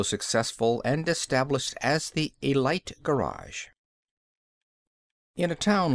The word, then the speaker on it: Elite: Chug Scarrett was, and is, the proprietor and sole owner of the Elite Garage, and he pronounced it with a long I.